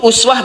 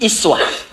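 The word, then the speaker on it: أسوة: Teman-teman yang ngaji qiraat itu uswah bisa dibaca dengan dua cara. Bisa uswah pakai damah u. bisa pakai kasrah i iswah di riwayatnya qalun atau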